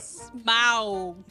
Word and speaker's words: Smaug: Smaug. You got it. It was all about pronunciation.